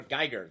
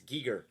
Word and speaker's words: Giger: because i'm looking at it's like h.r geiger that's the way it should that's the way it flows out of my tongue but it's not it's giger i i only learned